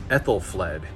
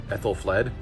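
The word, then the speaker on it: Æthelflæd: age this one's interesting this is ethel fled that is how you pronounce her name ethel fled uh and she was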